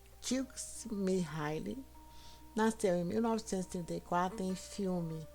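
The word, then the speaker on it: Mihály: Siem pronuncia-se Mihile nasceu em 1934 em Filme, cidade italiana perto da fronteira com a antiga Yugoslávia.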